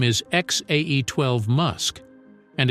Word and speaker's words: X Æ A-12: Elon Musk and Claire, as Grimes, claim the correct pronunciation is X-A-12.